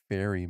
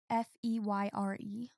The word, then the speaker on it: Feyre: It's just like fairy mixed around. It's Feyre. Yeah, but fairy, Yeah.